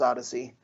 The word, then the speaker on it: OHDSI: about the fact that ohdsi when pronounced may not pronounce odyssey but i feel like